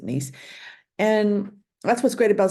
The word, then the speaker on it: Gneiss: step out for nella some might pronounce it nice Del I but I pronounce it nice and that's what's great